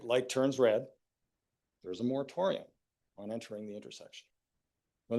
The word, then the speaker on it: moratorium: Mortorium sounds ominous. Rhymes with sanatorium.